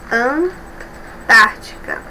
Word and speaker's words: Antártica: Antártica. Antártica. Observe. Um, dois, três. A terceira sílaba é mais forte de trás para frente, né? É a antepenúltima.